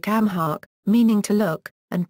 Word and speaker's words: amharc: In addition to a vocabulary typical of other area of Connacht, one also finds words like amhark, meaning to look, and pronounced onk, nimnich, painful or sore, druid, close, mate, here,